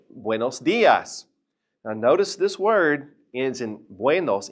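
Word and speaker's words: días: And notice that diaz has an accent over the i. So stress it.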